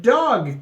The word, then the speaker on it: DAWG: today we're going over the dog token uh it is spelled D AWG and that is also